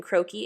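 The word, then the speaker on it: croquis: have to do is type in croakie in Google which is c-r-o-q-u-i-s that's just a sketch it's in French it's fancy you're gonna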